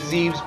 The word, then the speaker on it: Zebes: Zebes has fallen. Yes, I too used to pronounce it Zebes before Metroid Other M came out. It's Zebes, apparently.